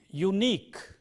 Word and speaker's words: unique: If you go by the letter, you say an unique, but you have to go by the pronunciation where you have a consonant, and therefore it is a unique. It is a unique opportunity, not an unique.